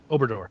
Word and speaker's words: Obrador: Obrador. Obrador.